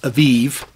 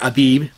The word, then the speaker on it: Aviv: particular stage of ripeness, which is called Aviv, or Abib, depending on how you want to pronounce it, and the first sighting of the sliver of the new moon is made.